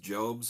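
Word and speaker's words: Jobst: one is kind of a Medical Supply it's pronounced jobs these are job's brand compression stockings I'm a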